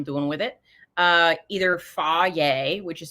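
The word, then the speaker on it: Fage: depends what i'm doing with it uh either fa yay which is spelled f-a-g-e um or sometimes i do uh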